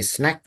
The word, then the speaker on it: snack: You can say snack, right? Not snake. Ada snack, ada snake. Kalau kamu bilang snack, itu yang ini. Kalau pakai pakai A, gitu ya, dibacanya bukan snack, tapi snake, itu ular.